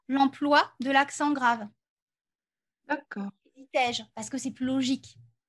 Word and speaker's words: hésitais-je: Parce qu'ici, vous voyez, dans hésitais-je, on prononce le est.